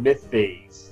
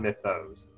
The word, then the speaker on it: Mythos: Apparently it's pronounced the Cthulhu Mythes, not Mythos, apparently.